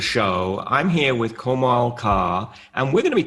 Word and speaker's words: Kaur: Kaur. Right. Like C-O-R-E, Kaur.